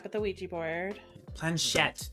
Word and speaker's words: planchette: Planchette. That's how you pronounce it, Penguin. Planchette. I kept on pronouncing it how wrong, are- and I was like, But I have no idea. I mean, you are How are- Canadian. How were you saying it? I'm so curious. no, I was like, I know I'm saying it wrong because I couldn't remember how to pronounce it. I was saying it plantette, I think.